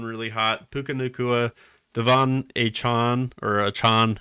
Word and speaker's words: Achane: Puka Nacua, Devon Achane, however he wants to pronounce it. A-Chain. I like A-Chain, but I think it's Achane.